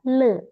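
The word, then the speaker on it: 乐: kasih apa namanya, marganya adalah le bacanya. Le. Ini Oh. bacanya adalah le a yuan.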